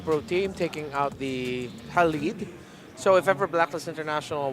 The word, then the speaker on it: Khalid: Yeah, Khalid. And the pronunciation is, he was trying to teach me the pronunciation. It's not the way that we usually say it. It's like a Khalid.